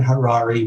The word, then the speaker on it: Harary: Harrari rhymes with Ferrari.